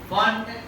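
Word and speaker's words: Pfund: फंड पी से लिखा जाता है, पी साइलेंट है, फंड श्रृंखला के नाम से जाता है।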